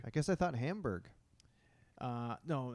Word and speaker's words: Hamburg: Is it pronounced Hamburg? Hamburg. I guess I thought Hamburg. No, that's totally a Canadian way of saying it.